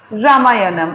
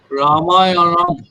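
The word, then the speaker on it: রামায়ণম্: রামায়ণম, আমি বাংলার মতন করে উচ্চারণ করছি, রামায়ণম। বলো দেখি, সংস্কৃততে উচ্চারণ করতে গেলে কি করে করবে? রামায়ণম, মটা এক্সটেন্ডেড হবে, রামায়ণম। রা মা দুটোই এক্সটেন্ডেড হবে।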